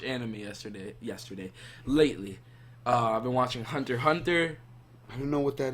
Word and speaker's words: Hunter x Hunter: So, basically, the show is called Hunter x Hunter. Mm-hmm. And it, the X is silent, though.